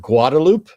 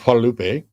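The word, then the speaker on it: Guadalupe: So there's literally a street called Guadaloop instead of Halupe.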